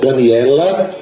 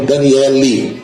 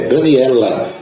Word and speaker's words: Daniela: Daniela Ah no final Daniela Ribeiro que muita gente chama de Danielle não é Daniela a moça lá do